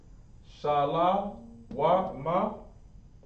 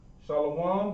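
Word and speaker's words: שלום: letters the ancient hebrew shah law ma remember it's not shalom but let's go ahead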